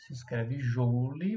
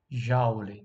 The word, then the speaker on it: Joule: Se escreve Joule, mas a gente fala Joule, tá?